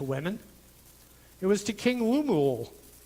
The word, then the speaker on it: Lemuel: It was to King Lemuel. I try to say it like I do Louisville.